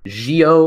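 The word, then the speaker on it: Zi-O: obviously it's pronounced like geo or geo uh uh it's not a Z sound so I say it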